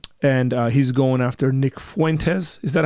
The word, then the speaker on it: Fuentes: And uh he's going after Nick Fuentes. Is that how you say his name? Yeah. Nick Fuentes.